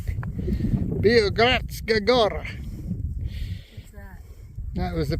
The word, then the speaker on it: Biogradska Gora: Biogradska Gora.